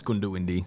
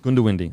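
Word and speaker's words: Goondiwindi: you've done well yeah but it's not gooned or windy yeah it's gunda windy gunda windy okay yeah yeah yeah okay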